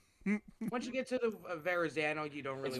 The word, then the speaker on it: Verrazano: Once you get to the Verrazano, you don't really. It's Verrazano. It's Verrazano. You gotta say it like this.